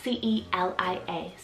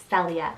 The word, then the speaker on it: Celia: Time to get your head up in the clouds, I have the name Celia, spelled C-E-L-I-A, Celia. You could also pronounce it as Celia, but this one means heavenly.